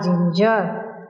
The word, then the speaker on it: ginger: G-I sound or no, G-I-G-N-G-E-R, ginger.